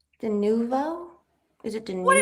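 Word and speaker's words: de novo: It's de It's d noo. Dooo. What did I say? Denuvo.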